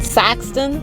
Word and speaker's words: Sykeston: we are currently in sykeston saxton that is the official pronunciation yes everyone's looking at